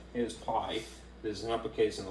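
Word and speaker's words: π: Here's pi. There's an uppercase and a lowercase, which would translate to P. And it's not pronounced pi either, it's pronounced P, actually.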